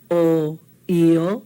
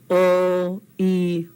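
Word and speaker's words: ʻoi: O, I, oi, like Maui no ka oi. Yeah? It's not Maui no ka oi, it's Maui no ka oi. Oi. Hear that E sound at the end?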